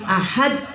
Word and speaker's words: ahad: Ada yang bacanya sampai sulit Bu, ahad. Sampai pakai h gitu ya. Ahad. Jadi tidak usah seperti itu.